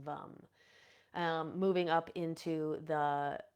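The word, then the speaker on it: vam: and orange color and the seed sound is vum v m pronounced vum um moving up into the um the solar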